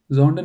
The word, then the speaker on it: sondern: Zonden will be more correct? Zonden is more correct, right? Because sondern.